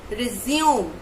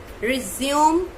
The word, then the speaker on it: resume: So we will see how to pronounce this word. It is actually resume. Resume. So in this way you have to pronounce it.